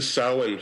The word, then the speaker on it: Samhain: Now, specifically, am I pronouncing this right? Is it Samhain or Samhain Festival? It would be the Samhain Festival.